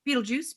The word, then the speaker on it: Betelgeuse: Everyone knows Polaris is in Ursa Minor, so that leaves Betelgeuse, or as some people like to pronounce it, Beetlejuice, Beetlejuice, Beetlejuice.